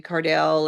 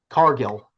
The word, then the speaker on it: Cargill: I'm watching Jay Cardell, and then I find out that Cargill. one's her. Did I say it wrong? Yeah, Jade Cargill. Cargell? Cargill.